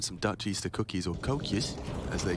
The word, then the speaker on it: koekje: And some Dutch Easter cookies, or koekjes, as they call them. Koekjes? Okay, all right. Koekjes. Is that how they pronounce it?